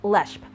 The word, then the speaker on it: Leshp: Yes, it is pronounced as Leshp, L-E-S-H-P.